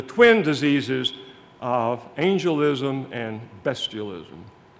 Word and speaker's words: bestialism: terms angelism and bestialism be sure you understand that word is not pronounced bestialism because when it becomes a collective noun it gets the short e bestialism percy has tom moore